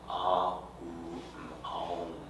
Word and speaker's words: Aum: Aum is the four syllable element, is the four element syllable, A is the birth. U is of coming into being, and mm is the dissolution. Ah, oom.